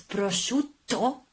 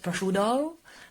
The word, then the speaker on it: prosciutto: Also when you pronounce prosciutto, latte, you have to double T your T. So not latte, not prosciutto, but latte.